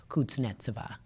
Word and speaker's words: Kuznetsova: every 5 seconds and say, how do you pronounce, and because tennis is an international sport. And they were like, it's Anna Kuznetsova.